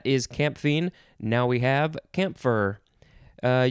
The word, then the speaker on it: camphor: camphine now we have camphor uh you can sort of pronounce the p if you want camp camphor or camp for uh c-a-m-p-h-o-r noun from